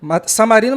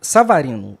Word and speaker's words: Savarino: Samarino e Mateus Martins farinam as pontas, só que o Samarino jogou de 10. Savarino, eu tenho Savarino a pronúncia correta.